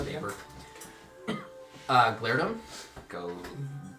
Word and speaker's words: Glairdum: Glairdum. Go G. So glare, Glare. D-U-M. Glairdum.